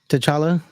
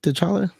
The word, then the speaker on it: T'Challa: I like how they did the death, of T'Challa. T'Challa, is that how you say it? T'Challa?